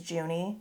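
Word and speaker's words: Junee: that's how you say it's like june but with an extra e so i think it's juney it's a beautiful beautiful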